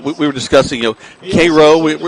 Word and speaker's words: Cairo: were discussing you know Koo we we've heard it's spelled like Cairo but it's not Koo like KIRO syrup but they are the